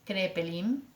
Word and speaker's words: Kraepelin: de este paradigma es crepé link kraepelin se escribe en alemán elabora un tratado con